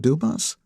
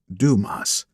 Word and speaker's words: Dumas: smile and says detective Dumas she pronounces my name Dumas it's French actually it's Duma like the famed author Leo and I were